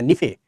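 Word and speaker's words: निफे: लोग नीफे बोलते हैं, बड़ी नी बोलते हैं। आपको बड़ी नी नहीं, छोटी नी बोलना, नीफे।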